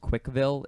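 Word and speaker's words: Cwickville: By the way, that's how it's pronounced. Quickville. CWC is Christian Weston Chandler initials. So, and then he just portmanteaued it.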